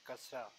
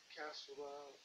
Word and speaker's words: kasra: This mark kasra. This mark written below the Arabic letter is called kasra, which stands for a short I. This I is pronounced as the vowel in 10.